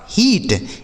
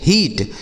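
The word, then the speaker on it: heat: जैसे एच से हो जाएगा ह और इस टी से हो जाएगा ट। इ और ए का उच्चारण बड़ी ई की मात्रा इसे पढ़ा जाएगा हीट एच ई ए टी हीट बी से हो जाएगा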